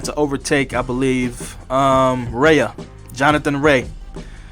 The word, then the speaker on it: Rea: overtake, I believe, Jonathan Rea. Or Rea, I don't know. His name is spelled R-E-A. I'm pretty sure it's Ray. So I'm going to go with Ray for now.